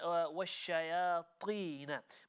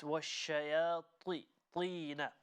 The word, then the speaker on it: وَالشَّيَاطِينَ: Now, when you recited وَالشَّيَاطِينَ, make sure the letter ta, okay, we still maintain the full mouth pronunciation. We don't say وَالشَّيَاطِي. It's وَالشَّيَاطِينَ. Make it full mouth.